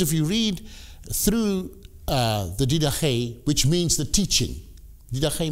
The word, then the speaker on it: Didache: Now, the next source is the Didache, or the Didache, as the Americans would pronounce it.